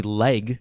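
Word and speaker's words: Legge: is that Katherine leg her last name is literally leg that's how it's pronounced well like Edge broke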